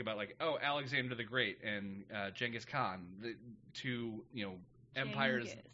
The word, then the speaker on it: Genghis: Alexander the Great and Genghis Khan, the two, empires. It's pronounced Genghis historically. Genghis. I wish it was the other way around, listeners, but it's not. It's pronounced Genghis Khan.